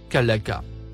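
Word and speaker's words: خلق: troisième mot en surbrillance bleue se prononce kalaka c'est le verbe créer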